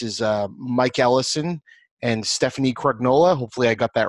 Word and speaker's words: Crugnola: D&D podcast this is Mike Allison and Stephanie Craig nola hopefully I got that right I was it actually pronounced its crayola crayola I should oh there you go we're off